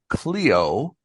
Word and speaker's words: Kleo: You have assigned me something called Cleo and it's spelled with a K K L E O.